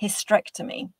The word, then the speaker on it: hysterectomy: they are pronounced and I would make a guess that those of you who missed the first e also pronounce the word without an e so for example you will pronounce the word homy and that's a reason why you don't spell his hysterctomy correctly because you're not pronouncing hysterctomy you're saying hysterectomy if this is the case and then there is help for you in better pronouncing the word which will also help